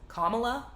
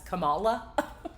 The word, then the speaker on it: Kamala: She also, she pronounced Kamala Harris's name incorrectly.